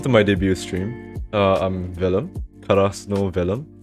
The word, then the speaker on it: Velum: I'm Velum. Krasno Velum. And you can pronounce it Vilum if you're weird. But I accept that. If you pronounce it Vilum, that's cursed and never do that again.